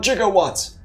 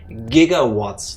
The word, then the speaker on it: gigawatts: if this wasn't correct why did Doc Brown in Back to the Future say 1.21 gigawatts if it if it would be gigawatts like some weirdos would say no the G is a j basically you all belonging to